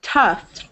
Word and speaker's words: tough: So this one is tough, like the F sound.